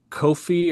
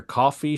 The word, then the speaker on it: Ko-fi: It's uh I have a Kofi or coffee shop. I'm not sure how they pronounce it, but it's like ko-fi.